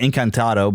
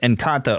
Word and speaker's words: Encanto: I think I keep wanting to call it Encantado, but it's just Encanto or whatever.